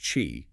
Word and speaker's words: Qi: Just to be clear, they are very insistent that it's pronounced chi, like cheese without the Z sound.